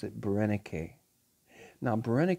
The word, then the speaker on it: Berenice: egypt now it's pronounced barenake um it looks like berenice in english or french and it may be pronounced as that but the greeks pronounce it brenneke now brenda k was